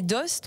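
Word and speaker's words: Aoste: édition c'est la vallée qui s'écrit à OST mais qui se dit bien la Valé d'Host on ne veut pas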